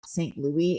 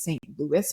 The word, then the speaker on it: St. Louis: It took me a while when I was in the US to learn that the city in Missouri is not St. Louis, it's St. Louis, but the spelling is very French to me.